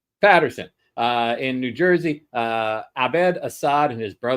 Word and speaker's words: Paterson: How do you say that? Patterson.